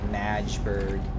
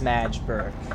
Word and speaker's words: Magdeburg: Berlin, Magdeburg. Oh, it's not I've always pronounced it as Magdeburg. It's Magdeburg. It's Magdeburg. I've always pronounced that Magdeburg. It's Magdeburg, though. Once again, hauling some Eddie Stobart.